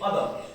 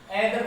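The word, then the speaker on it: other: ऐसे बोलते हैं, देखिए अदर, इसको क्या पढ़ेंगे, एदर थोड़ी बोलेंगे, अदर।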